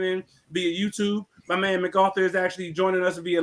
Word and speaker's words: MacArthur: he said yeah my bad that's how you pronounce it MacArthur hey I get you I get you my